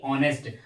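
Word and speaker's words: honest: ऑनेस्ट इसको क्या पढ़ेंगे यहां प जो एच लेटर दिया हुआ है क्या है साइलेंट लेटर है तो इसको क्या पढ़ेंगे ऑनेस्ट और ऑनेस्ट के बाद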